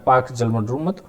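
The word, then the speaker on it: Palk: पाक जल मटरू मध्य अंग्रेजी में इसको पाल के लिखा जाता है जबकि उच्चारण पाक jalmandar होता है स्वतंत्रता के समय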